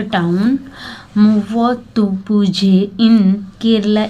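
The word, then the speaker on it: Muvattupuzha: तो name of A town मुवत्तुपुझे in Kerala is not pronounce the वे it is written. The last three letters are pronounced as r with a roll of the tongue.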